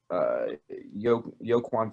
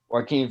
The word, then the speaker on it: Joaquin: Joaquin. The hell spells Joaquin with a J? The J is silent.